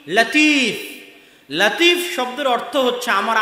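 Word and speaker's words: لطيف: নামে নাম আছে মানে লতিফ আল্লাহর নাম কিন্তু সঠিক উচ্চারণ হচ্ছে লাতিফ সঠিক উচ্চারণ কি লাতিফ লতিফ এটা সঠিক উচ্চারণ নয় লাতিফ হচ্ছে সঠিক উচ্চারণ তো এই লাতিফ শব্দের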